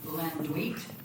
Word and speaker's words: Landuyt: Mark, his last name is pronounced Lendwit. Okay. Mark Van Landwit, longtime resident of Contraosta County.